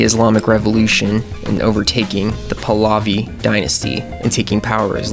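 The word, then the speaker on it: Pahlavi: would put Mohammed Reza paval palavi palavi I think is how you say it as Shah Reza Reza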